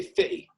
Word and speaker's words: 50 Cent: about a long time i'd say 50 cents 50 cent because that's how they say it 30 50 cents even you know uh the blacks that's how they say they say fitty he's the sweetheart i